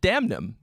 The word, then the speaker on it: Damnum: of all it's pronounced damn you say the n um this is the